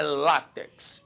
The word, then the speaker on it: látex: a sílaba tônica né se eu falar látex aí deu rolo não é látex Então se é látex a sílaba tônica concentre é lá é uma paroxítona paroxítona terminada em x